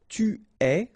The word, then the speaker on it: tu es: Okay, so je suis, final S not pronounced, tu es, okay, so it's quite strange because you get this ES, but then phonetically it's est, all right, quite open, tu es.